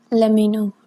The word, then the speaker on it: LEMMINO: But if you want a serious one, I recommend Let Me Know.